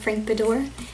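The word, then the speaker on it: Frank Beddor: Because I read a book called The Looking Glass Wars by Frank Bedore. That's how you pronounce his name.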